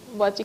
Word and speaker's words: bocce: All of these games I'm seeing that you guys participate in, if I'm pronouncing it incorrectly, please correct me, is Bocce? Bocce.